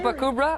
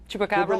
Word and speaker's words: Chupacabra: Chupacubra or however you pronounce that. Chupacabra.